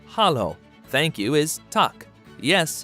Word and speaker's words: halló: Hello in Icelandic is pronounced halló.